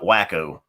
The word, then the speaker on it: Waco: They like for you to pronounce it wacko.